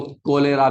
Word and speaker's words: cholera: नाम की बीमारी जिसको कोलेरा भी बोलते हैं कोलेरा इंग्लिश में कोलेरा लिखा जाता है अगर प्रोनाउंस एशन करें तो कोलेरा लिखा जाता है और बोलने में कलरा बोलते कोलेरा ठीक है जी हैजा